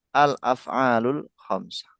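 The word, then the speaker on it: الأفعال الخمسة: Jadi pengucapannya yang betul pakai al semua ya. Al-af'alul khamsah.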